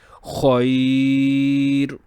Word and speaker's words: khair: So when the raw will be sakin, instead of double pesh, we will pronounce it khair.